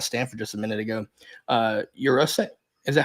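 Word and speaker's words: Yurosek: But since we were talking about Stanford just a minute ago, Jurasik, is that how you say it? Yeah, Ben Jurasik.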